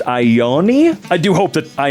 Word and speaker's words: Ione: Ione is how her name is pronounced. Ione?